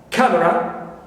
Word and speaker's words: camera: nouns first I have camera camera C first is stress as a now Valentine